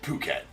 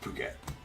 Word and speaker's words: Phuket: Uh, Mark, it's pronounced Phuket for sure. It's pronounced Phuket, right? We just have some fun pronouncing it the other way because every other PH is an F sounding.